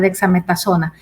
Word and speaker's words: dexametasona: gracias luis así el su pronunciación estuvo bien cerca dexametazona este es un es